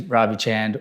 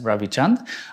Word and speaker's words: Ravi Chand: Hi, my name is Ravi Chand, or as it's supposed to be pronounced, Ravi Chand.